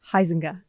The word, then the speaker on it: Huizenga: name even though I've practiced it 1,000 times, Huizenga. Close? Just about right. Almost right. Just You about say it right. so it's right, please. Huizenga.